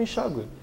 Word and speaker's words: enxágue: Está muito sujo aqui, faça um enxágue. E esse enxágue seria com trema.